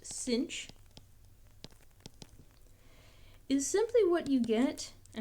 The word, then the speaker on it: sinh: The hyperbolic sine function, which is written as sine with an extra h, and this is pronounced “cinch.”